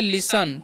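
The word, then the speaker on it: listen: एन ठीक है तो इसे लिस्ट नहीं पढ़ना है यहां पर जो है टी जो साइलेंट होता है तो इसे हम क्या पढ़ते हैं इसे हम लोग पढ़ते हैं लिसन ठीक है तो लिसन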